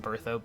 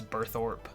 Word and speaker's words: Burthorpe: just like birth oh I still pronounced birth up even though I technically know its burthorpe but for house Almir